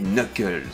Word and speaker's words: Knuckles: Sonic lui il s'appelle Knuckles alors déjà on prononce pas le cas et puis surtout Knuckles